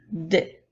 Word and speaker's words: des: plusieurs maintenant nous avons le mot dès qui commence par la lettre D qui fait le son de 2 les lettres es nous l'avons déjà vu ça fait le son est donc nous avons des comme dans les phrases